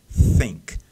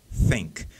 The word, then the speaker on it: think: você tem que colocar Então tem que sair esse som de um vento meio meio prensado né aí depois você deixa o Ink sair né think think então o o Silvio